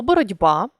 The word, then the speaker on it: боротьба: відбувається уподібнення за дзвінкістю у цих словах пишеться одна літера а вимовляється інший звук і тому почувши слово боротьба важко зрозуміти яку ж букву писати де чи те щоб перевірити ми змінюємо